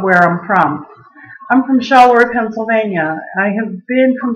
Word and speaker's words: Charleroi: It's actually pronounced Charleroi, but I say it the way I say it because everybody here calls it Charleroi. So it's actually named after a Belgian city, and Charleroi was a